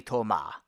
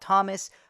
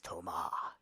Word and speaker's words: Thomas: from France and yes their names do sound awesome because that's how you pronounce them in French especially Tomah in English we call it Thomas but here it's Tomah born in the mid